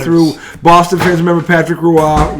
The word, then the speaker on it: Roy: Boston fans remember Patrick Ruah looks like Roy pronounced Ru tell all of a